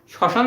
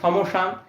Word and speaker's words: শ্মশান: তাহলে তুমি এখন লক্ষ্য করো শ্মশান যখন আমরা উচ্চারণ করি তখন আমরা কি ম উচ্চারণ করি? না শশান উচ্চারণ করার সময় আমরা ম উচ্চারণ করি না। আমরা এখানে ডিরেক্ট বলি সশান। আর যদি ম উচ্চারণ করতাম তাহলে হইতো স মশান। আমরা কিন্তু সমসান এটা উচ্চারণ করি না। আমরা ডাইরেক্ট শসান উচ্চারণ করি। অর্থাৎ ম এর উচ্চারণ এখানে হয় না। ঠিক এই কথাটাই আমাদের সূত্রের মধ্যে বলছে। ম ফলার উচ্চারণ হয় না।